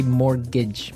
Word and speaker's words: mortgage: Yeah, it has a T in it, but you don't pronounce it. You say mortgage.